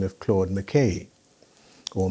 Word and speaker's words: McKay: the name of claude mckay or makai depending on who you i think the scots say mckay and jamaicans tend to say makai and they were quite